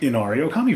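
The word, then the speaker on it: Inari Ōkami: Inari Okami, very good.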